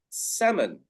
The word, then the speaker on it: salmon: But the correct pronunciation in English is salmon. Salmon. Sa and mun. So the L is silent. We do not say the L in English in this word. We say salmon. So it's almost like M-E-N.